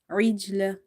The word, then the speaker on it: عجل: عجل. Ain, jim kasra, lam fatala, عجلة. Ain is from the middle of the throat. Try to pronounce it in from the very middle of your throat.